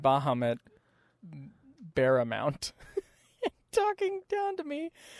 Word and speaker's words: Bahamut: I remember him pronouncing Bahamut Baramount. That's funny. You know, we pronounce Bahamut our way. Bahamut.